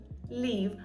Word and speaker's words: leave: Leave, а ось тут буде коротка е. Тобто я хочу покинути Україну. I want to leave Ukraine. Язик не робить такої фрикції. Нема оцього різкого звуку. Він більш плавний.